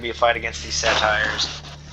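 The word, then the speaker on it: satyr: a fight against these satires I think it's actually pronounced satar but I always said satires and it's hard to break myself for that habit so I'll be using the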